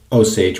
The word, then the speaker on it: Osage: So, I believe that this is pronounced Osage Rub. And in my head, what I always hear in those cases is something like, oh, sage rub.